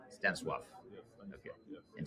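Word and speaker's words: Stanisław: Because I mispronounce it every time. It's Stanislaw. Stanislaw.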